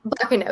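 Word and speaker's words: Baccano: to pronounce either of them, but Clanad and Bacano, did I get both of those wrong? Clanad and Bakano. Bacano, yeah.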